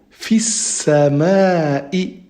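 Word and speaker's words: في السماء: Du coup, on ne prononce pas le lemme et on fait directement la liaison entre le fi et le sin.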